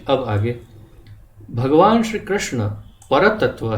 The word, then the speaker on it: कृष्ण: जैसे कि अ श्री कृष्णा कृष्णा तो कई लोग कृष्णा बोलते हैं कृष्णा तो द्रौपदी का नाम कृष्णा भगवान कृष्ण का नाम भगवद्गीता और भगवत भगवत